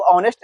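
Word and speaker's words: honest: तो इसको H silent हो जाता है तो पढ़ते हैं हम लोग ऑनेस्ट।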